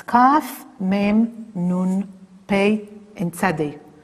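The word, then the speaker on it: כ: We have studied already a letter which you pronounce K. That was Kaf. And here we have Kof. So be careful. Both of them you pronounce K. If you remember, the Kaf, sometimes you pronounce Kh. But Kof, you always pronounce K.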